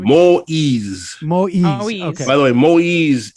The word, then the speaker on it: Moïse: Moïse, am I pronouncing his name? Moïse. Moïse.